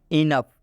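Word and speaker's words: enough: example समझ लेते हैं इनफ इनफ में आप देख सकते हैं ओ के बाद से यू आया हुआ है तो इस ओ का उच्चारण नहीं किया जा रहा है और यहां पर स्पष्ट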